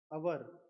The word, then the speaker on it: our: अवर, इसको आर भी प्रोनाउंस करते हैं।